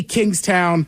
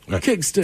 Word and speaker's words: Kingstown: They say Kingstown. That's just, I always say it like Jamaican. Kingston.